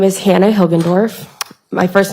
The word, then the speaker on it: Hilgendorf: and spell both okay my name is hannah hilgendorf my first name is spelt h-a-n-n-a and my last name is hilgendorf h-i-l-g-e-n-d-o-r-f how old are you hannah i am